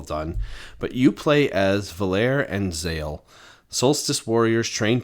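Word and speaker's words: Valere: I was pronouncing it Valerie. Oh, and instead of Valer. Valair. Yeah. V A L E R E. Just just Valerie. Just without the IE at the end.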